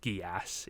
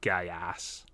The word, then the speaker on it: Geass: by the meme, but it is pronounced Geass. It is not Gaiass. Is it? All yes, right. Absolutely. They say Geass in the show.